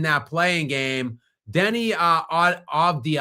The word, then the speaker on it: Avdija: Deni uh Avdija, I always mispronounce that guy's name. I don't know if the D or the V comes first. I think it's Avdija. Um terrific season for him.